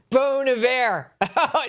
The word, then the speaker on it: Bon Iver: Bon Iver. You see, it's classier if you pronounce it the French way.